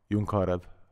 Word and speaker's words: John Carew: Jon Carew.